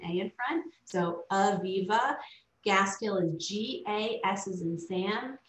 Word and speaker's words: Gaskill: So Aviva Gaskill is G-A-S as in Sam, K-I-L-L, like the words gas and kill together.